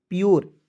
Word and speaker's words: pure: तो पी का आधा प लिख देंगे, URE है दोस्तों, इसका उच्चारण जो है योर के रूप में करेंगे। तो क्या हो जाएगा दोस्तों, PURE, प्योर।